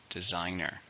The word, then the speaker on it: designer: it's a countable noun how many syllables designer three stressed on a second designer many fashion designers are